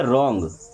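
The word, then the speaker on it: wrong: रोंग नहीं बल्कि क्या पढ़ते रॉन्ग वराइट ने क्या पढ़ते हैं?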